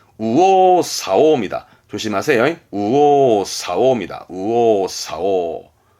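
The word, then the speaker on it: 右往左往: 발음은 우오사오입니다. 조심하세요. 우오사오입니다. 우오사오.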